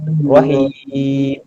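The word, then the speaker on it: الرحيم: Roh ada pedas. Roh. Bukan rohah. Bukan rohah pula. Ar-Rahmanir-Rahim. Tutup mulut. Rahim.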